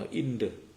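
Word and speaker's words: Indra: ครับ พระ อินทร์ หรือ ใน ภาษา อังกฤษ ก็ ออก เสียง ว่า อินเดอ นะ ครับ ที นี้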